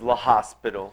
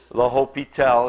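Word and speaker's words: L'Hôpital: called the Hy tells rule okay again don't pronounce it as La hospital it's L Hopey tell is how you say it okay okay um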